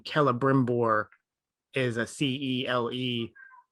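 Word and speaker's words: Celebrimbor: in token speak uh if you start a name with a letter c it's always a hard c so like the name kelebrimbor is a c-e-l-e it's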